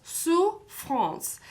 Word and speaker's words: souffrance: The word souffrance has 2 syllables, souffrance.